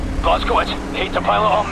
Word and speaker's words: Blazkowicz: It doesn't sound right in English. Say it correctly. Blazkowicz, hate to pile it on, mate, but we're in the weeds over here.